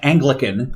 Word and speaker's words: Anglecyn: folks um yeah it's clearly supposed to be pronounced Anglican so so if somebody